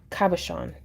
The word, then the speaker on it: cabochon: Chon is pronounced Sean. Cabochon.